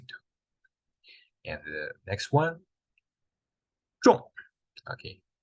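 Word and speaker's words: 众: Yeah, but this one with falling tone or angry tone. So when you pronounce like this, 重, you got the right one. You got the right pronunciation.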